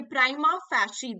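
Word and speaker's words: prima facie: so that is deliberation Prime of fancy okay Prima fashion this is how it is pronounced and it is a foreign accepted uh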